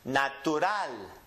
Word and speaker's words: natural: It ends with a consonant, so we're going to go up on the N. So the last syllable gets emphasized, is pronounced natural.